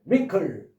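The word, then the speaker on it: wrinkle: 첫 번째는 WR로 되는 것에 W는 발음하지 마라. 없는 것처럼 자신있게 찝찝하게 그냥 발음 안 했다고 껄쩍근 해야 하지 말고 없는 것처럼 자신있게 링클 마지막에롱 이런 식으로 또 하나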